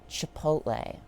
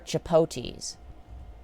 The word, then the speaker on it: Chipotle: Or chipotes. Because for some reason... Because for some reason, people think the L is silent in Chipotle.